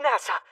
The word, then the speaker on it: Nasa: name is NASA yuzuki written as Starry Sky but pronounced NASA such serious injuries and